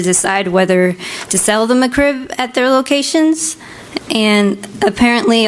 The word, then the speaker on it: McRib: My thing is she keeps saying mccri. Like that's what I thought she was saying. McCrib like it's my crib. Yeah. Oh yeah. She can't pronounce it. But it's McRib, right?